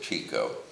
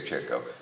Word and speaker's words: Chico: And the other part, and he said there were four brothers, Groucho, Chico, Harpo, and he mispronounced it, Chico. He didn't know to say Chico. Groucho, Chico. No, my father.